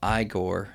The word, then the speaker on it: Igor: you must be Igor now it's pronounced I go oh that's brilliant man